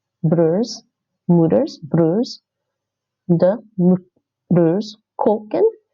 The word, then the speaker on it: koken: Like I said, broers, moeders, broers, de broers koken. This is actually pronounced like a long O. Now, there's a bit of a complicated rule between so koken means to cook in Dutch, right?